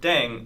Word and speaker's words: 땡: The pronunciation of 땡 is similar to thang, which is the slang of thing in English.